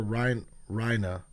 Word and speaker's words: Reiner: That's Reiner, and I don't know if he's the, or Rhina. I think they don't really pronounce the R when they say his name, Reiner.